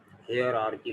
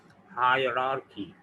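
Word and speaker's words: hierarchy: ये बज़ाहिर तो हायरार्की लिखा है, लेकिन इसका सही प्रोनाउंसिएशन ब्रिटिश इंग्लिश में है हायरार्की। मैं जैसे बोल रहा हूँ ऐसे ही, हायरार्की, हायरार्की, हायरार्की। इसको लोग हायरार्की और हियरार्की और पता नहीं क्या क्या बोल रहे होते हैं।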